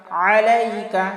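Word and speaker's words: عليك: আলিফ টান আসসালামু আলাইকা আলাইকা এখানে আইন আছে আইনের উচ্চারণ আমরা হলকের মধ্যখান থেকে চাপ দিয়ে উচ্চারণ করব গলার মধ্যখান থেকে চাপ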